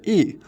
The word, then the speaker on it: Yi: YI represent E. It's pronounced as E.